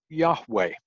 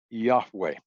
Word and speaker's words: Yahweh: e in it so we would pronounce this Yahweh two syllables Yahweh now during the Reformation